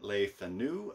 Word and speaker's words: Le Fanu: By J. Sheridan Le Fanu, I believe is how you say the name.